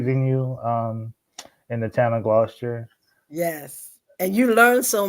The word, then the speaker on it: Gloucester: I'm like, look, it's Gloucester.